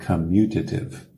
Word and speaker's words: commutative: Então vamos ver essa primeira propriedade em inglês, the commutative property, commutative. Vê aí os 2 M's na escrita, commutative, e a pronúncia, primeira sílaba, o som é como se fosse um A, commutative property.